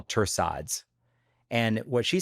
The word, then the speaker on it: torsades de pointes: And what she says, she's like, that's actually torsades et point. Like she says the proper French pronunciation, which is a very specific little quirk in medicine. When you say these eponymous names, you pronounce them by their like origin language.